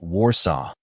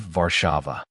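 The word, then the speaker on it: Warszawa: Sarah kept saying Warsaw instead of Varava, the proper pronunciation.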